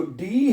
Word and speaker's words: D: कि हमें पता हो मैंने ए, बी, सी को कैसे प्रोनाउंस करना है। ठीक है? अच्छा डी को जर्मन जुबान में पढ़ते हैं डे।